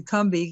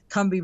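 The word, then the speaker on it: Combahee: to the KEH River Collective statement is actually kbi because I found that out a few years ago that in South Carolina where the kbi river is it's actually pronounced that way and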